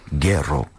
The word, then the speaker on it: Guero: I think the correct pronunciation is Guero.